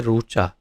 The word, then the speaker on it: ऋचा: जैसे गुजरात में उसका उच्चारण करेंगे रूचा, जैसे रूभू, लेकिन बाकी सब जगह पे इसको री उच्चारण करते हैं। उड़ीसा में भी इसको रू उच्चारण होता है इस तरह।